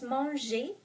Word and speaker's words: manger: So EZ or ER at the end of the word is pronounced E.